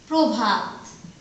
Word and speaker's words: প্রভাত: যেমন প্রভাত, দেখো প আদ্য অ পরের সাথে আছে, র ফলা যুক্ত হয়েছে, এটা উচ্চারণ হয়ে যাবে ওকারের মতো।